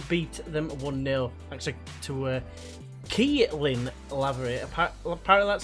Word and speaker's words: Keelan Lavery: second round to beat them 1-0, thanks to Keelan Lavery.